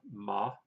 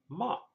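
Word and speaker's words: 妈: For example, in Chinese, the sound ma, M-A, said in high-level tone means mother-in-law, ma. However, said in a falling and rising tone, it means horse. Ma, ma.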